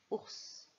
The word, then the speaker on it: ours: Comme dans os, le S à la fin du mot siffle.